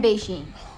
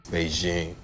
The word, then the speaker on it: Beijing: Et on trouvera le son je, c'est-à-dire sans le son de devant, dans des mots d'autres langues, comme l'expression française je ne sais quoi, It takes a certain kind of je ne sais quoi to be effective in this environment. ou la ville que l'on nomme Pékin en français, c'est-à-dire Beijing.